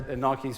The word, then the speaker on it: Nike: somewhere everyone gets their nikes from i'm saying it right saying nike not nike but it's just do